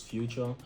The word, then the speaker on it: Fuchor: my name to be Fuchor as well. So the spelling is actually future, the way you say, okay, present past future.